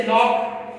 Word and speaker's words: lock: तो रूल 2 में है सी यूजुअली म्यूट बिफोर, म्यूट खामोश रहता है बिफोर द लेटर के एंड क्यू। जैसे लॉक, लॉक के अंदर LOCK, लॉक।